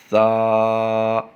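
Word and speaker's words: ثا: بلکہ تا، تا، تا۔ اگلا حرف ہے سا، سا، سا۔ سے نہیں، اردو تلفظ ہے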